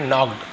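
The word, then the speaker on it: knocked: एक साथ लिखा तो के शुरू में देखेंगे साइलेंट रहता है वैसे ही यहां पर भी नॉक्ड खटखटाया तो नॉक्ड नहीं पढ़ेंगे नॉक्ड पढ़ेंगे कि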